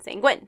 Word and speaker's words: sanguine: win is spelled the same way genuine is spelled and like sometimes I feel like you need to step back and look at other words that are spelled the same way and how they're pronounced because that one just it kills I'm I like know it now because I've been trying to verbalize it to remind myself saying Gwyn saying what sanguine sanguine the other one is